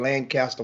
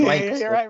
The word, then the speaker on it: Lancaster: Lancaster, we call it down here, but it's Lancaster up there in Dallas. We tease him. We tease him and mispronounce it on purpose down here.